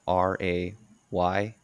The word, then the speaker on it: Raymer: So it's Kyle Raymer, Raymer. Is it Raymer? Am I pronouncing it right? Yeah, your play.